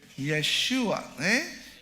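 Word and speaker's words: ישוע: Yeshua.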